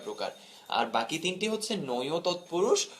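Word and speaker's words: নঞ্‌ তৎপুরুষ: আর বাকি তিনটি হচ্ছে নয় তৎপুরুষ উচ্চারণটি খেয়াল করো এটাকে আমরা নয় বলি অনেকে এটাকে নং বলে অনেকে এটাকে নয় বলে এরকম না উচ্চারণটা খুব স্পষ্ট এবং জেনে রাখো উচ্চারণটা হচ্ছে নয় তৎপুরুষ নয় তৎপুরুষ অলোক তৎপুরুষ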